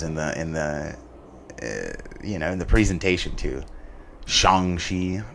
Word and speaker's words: Shang-Chi: Shang-Chi. I mean, it might be how it's pronounced, but everybody's been saying Shang as long as I've been alive.